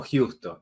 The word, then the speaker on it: Giusto: Mi hermano, ¿tu apellido cómo se pronuncia, hombre? ¿Es Justo o es Justo o cómo es el apellido, hermano? Contanos a ver. Lo dejemos como Justo, así está bien.